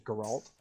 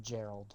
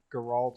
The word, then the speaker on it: Geralt: You know, like I knew it was like Geralt or Geralt or something like that, but I knew it wasn't like a G or a J sounding name.